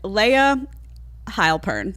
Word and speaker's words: Layah Heilpern: always so I wanted to talk today with Leia heilpern did I say it right instead of perfectly